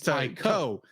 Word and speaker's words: Taiko: Yeah, well, you're thinking of Taito, but this is Taiko. That's right. Yeah. Taiko. I'm thinking it rhymes with Taito, which is a Japanese video game developer.